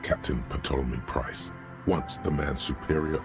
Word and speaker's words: Ptolemy: It's because the Furrows lost that match, said Captain Ptolemy Price, once the man's superior officer. You don't pronounce the It's P.